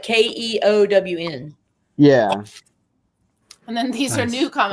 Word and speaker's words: Keown: How do you pronounce it, dude? Keown.